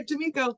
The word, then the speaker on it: D'Amico: And is it D'Amico? Am I pronouncing it correctly? You are, D'Amico, thanks.